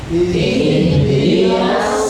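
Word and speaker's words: اهدنا: Ihdinas siratal mustaqim. Di dalam lafaz ihdina diawali oleh hamzah wasal. Ya, kalau mushaf Madinah, tapi dibacanya i. Ihdina bukan ihdinas li.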